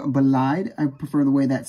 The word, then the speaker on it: Bolide: And yes, I know it's technically supposed to be pronounced Bolide, but that sounds stupid to me, and I prefer the term Bolide.